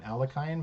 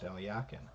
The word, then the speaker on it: Alekhine: A lot of people call him Alekhine, but I found out that his name is actually pronounced Alyakin.